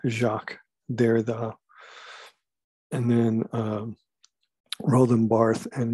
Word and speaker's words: Derrida: That's how you pronounce his name, Jacques Derrida.